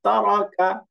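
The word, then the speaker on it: تَرَكَ: দেখেন উচ্চারণে কোনো টান নাই, তারাকা, তারাকা। টান হচ্ছে? উচ্চারণ টান হবে না, তারাকা।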